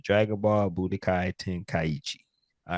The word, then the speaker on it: Budokai Tenkaichi: the head with it so y'all get this pronunciation right and y'all saying it right Dragon Ball Budokai tenkaiichi all right new drop it's